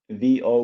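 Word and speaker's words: Vo': One is there is a study which I think is now published from one municipality in Italy, VO with the accent on the O, where they did comprehensive PCR testing repeatedly in the population.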